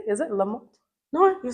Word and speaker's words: Lamott: Hopefully I'm saying it correctly. Is it Lamott?